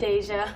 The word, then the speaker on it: Deja: Deja. Deja. Like deja vu.